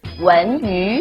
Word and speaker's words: 文娱: 文娱。 when you. So two of these second tones are pronounced as subtle fourth tones instead.